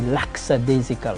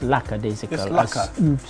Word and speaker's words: lackadaisical: word by the way which the english mispronounced most english people say laksa desicca laksa and it's not correct it's lackadaisical beautifully pronounced respect the